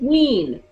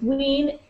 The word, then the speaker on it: Wein: It's Wein. Wein? Yes, it's Wein. Rhymes with teen. Okay. The same as weird. It's not German.